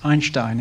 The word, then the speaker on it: Einstein: gravitational waves thanks Mora it's actually pronounced Einstein it's a German name um one of the